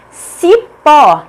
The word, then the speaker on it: cipó: Cipó, cipó. A última sílaba pó é a tônica, portanto é acentuada porque é uma oxítona terminada em O.